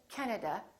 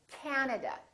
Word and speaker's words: Canada: This time, the first syllable is stressed. This time, this a is really long. So don't say Canada, say Canada, Canada.